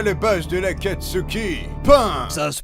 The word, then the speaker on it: Pain: Pain. Ça se prononce Pain.